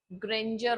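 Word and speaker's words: grandeur: और उसके अलावा ग्रेंजर ऑफ the doom. ग्रेंजर मतलब, हाँ, this word is from ग्रैंड, और इसका प्रोनाउंसिएशन क्या होगा? ग्रेंजर।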